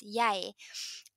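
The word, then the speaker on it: jeg: doesn't work nobody says you know how you say i in norwegian that's yay but no and it's spelled j j e g so for me if i was to really read it letter by letter it would be and nobody says that so it isn't yeah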